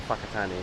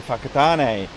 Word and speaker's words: Whakatane: I think we're going to Whakatane. We're going to Whakatane.